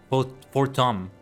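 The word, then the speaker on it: Haurchefant: Forttom I'll reme I'll try to remember that it's French pronunciation here. Port for Tom.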